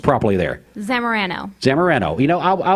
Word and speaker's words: Zamorano: want to make sure that i get it pronounced properly there zamarano san moreno you know i was probably going